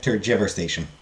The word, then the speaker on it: tergiversation: Yeah, tergiversation. I also wanted to check the pronunciation to make sure that it was turgi, not turge. Turgi just seemed to make more sense to me.